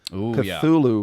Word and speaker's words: Cthulhu: The honor goes, however, though uh to the gallery of cosmic entities in HP Lovecraft's Cthulhu mythos. Did I pronounce that correctly? Cthulhu.